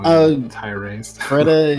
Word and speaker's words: Freddeh: Freddeh is technically, but Freddie is fine.